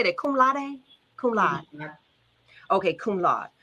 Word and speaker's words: cum laude: Cum laude?